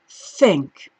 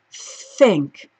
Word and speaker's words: think: can you see how my tongue is in between my teeth alright that's the trick to th and I know it